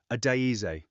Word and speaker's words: Adaeze: He said her name the way he'd been practicing it in his head all night, getting the weight of it right, the 4 syllables, the slight emphasis on the second.